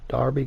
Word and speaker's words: Derby: so we've signed the ninth young 19 year old right back jaden bogle from darby counties here in america most of us will pronounce that it's derby but darby county for just a shade